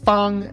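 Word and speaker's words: 方: You'll use the Henza movie method to remember that it means square, that it's pronounced fun.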